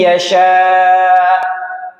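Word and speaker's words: يشاء: Ada tekanan sya kalau jenengan landaikan tanpa tekanan itu menghilangkan satu huruf. May yasya itu menghilangkan huruf hamzah. Maka ditekan may yasya.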